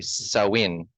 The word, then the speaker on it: Samhain: Halloween's origins date back to the ancient Celtic festival of Samhain, pronounced, oh, actually, Samhain.